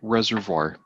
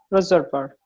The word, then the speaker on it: reservoir: is collected in the reservoir collected and collects and the result and the pronunciation this is a French word yes so we use the French pronunciation reservoir reservoir rain falls and collects